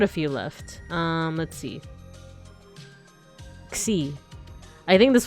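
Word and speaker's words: Ξι: Xi. I think this one is pronounced like Xi, like K plus oh here, like K and S together.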